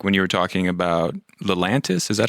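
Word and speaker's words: Lelantus: But anyways, just to kind of switch back to an earlier topic when you were talking about Lelantis, is that how you pronounce it?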